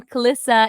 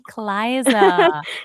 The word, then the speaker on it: Clisa: First of all, I want to apologize because I mispronounced your name from Clisa. It's supposed to be Cliza.